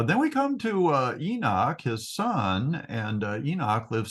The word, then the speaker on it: Enoch: we come to uh Enoch his son and Enoch lived 65 years and begot matusalach Methuselah so uh Enoch's name is actually pronounced like with a CH sound at the beginning I don't really know